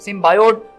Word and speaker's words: Symbiote: तो सिम्बियोट जो है, इसको बहुत ज्यादा लोग सिम्बियोट, सिम्बायोट और सिम्बियोटे भी कहते हैं, लेकिन इसकी जो सही प्रोनाउंसिएशन है वो सिम्बियोट है।